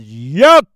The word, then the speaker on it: Yahweh: The original name was YHWH, or Yod-Heh-Wah-Heh, which we pronounce it as Yahweh.